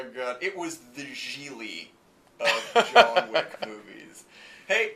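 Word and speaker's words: Gigli: Some guy says, "What's up with you, Jiggly?" And he goes, It's pronounced Geely.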